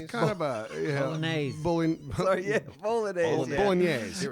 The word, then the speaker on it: bolognese: But man, portions were large for like I mean, often Italian portions can be, but I always like trying the bolognese.